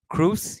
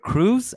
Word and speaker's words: Kroos: Kroos, yes, but Kroos, as in cruise ship, no.